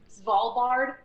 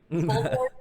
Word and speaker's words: Svalbard: I think they're pronounced Svalbard. Svalbard.